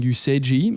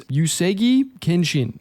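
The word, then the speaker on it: Uesugi Kenshin: I think I've been saying Yuseji. I think it's Yusegi Kenshin.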